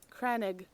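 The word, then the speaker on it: crannog: Pronounce it. Cranig.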